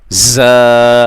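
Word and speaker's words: ز: जा खड़ा जबर जा यह जा सीटी वाला हर्फ है इसमें जब हम इसको रीड करेंगे पढ़ेंगे प्रोनाउंस करेंगे इसकी प्रोनंसिएशन में लाइक साउंड होगी कैसे सीटी की तरह की आवाज होगी खड़ा जबर ज इस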